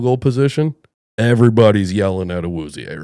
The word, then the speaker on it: Awuzie: I can't pronounce his name, but it's like, Awuzie.